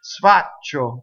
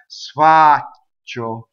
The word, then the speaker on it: sfaccio: Sfaccio, you see? When you sing, you have to elongate the ah. Sfaccio.